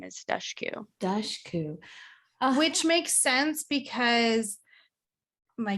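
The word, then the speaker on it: Dushku: just figured out that you pronounce her name duskyu 30 years yeah so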